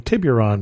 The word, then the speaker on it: Tiburon: on my travels and apparently i mispronounced tiburon as saying tiburon because there's a u in there that i'm not supposed to pronounce but i have gone